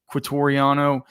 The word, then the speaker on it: Quitoriano: Tegan Quoriano, is it Tegan Quoriano? Is that how you say his name? Yes. Yeah, Quitoriano. pretty much.